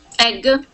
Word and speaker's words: egg: Egg. Okay, egg. So here we're going to pronounce that more like an A sound.